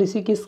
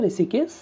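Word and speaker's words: Hrushikesh: देखिए दोस्तों यहाँ पर ऋषिकेश को इंग्लिश में इसी तरह लिखा जाता है, एच साइलेंट यहाँ पर होता है, आप कन्फ्यूजन में मत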